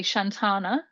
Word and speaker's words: Shantana: And am I pronouncing it correctly? Shantana? Yeah, yeah, So his whole character, I was watching him from the start because I was like, you know what?